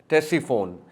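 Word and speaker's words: Ctesiphon: But that city is टेस्टीफोन। C silent है। सी टी ई एस आई पी एच ओ एन टेस्टीफोन पुरानी शहर पुरानी city है।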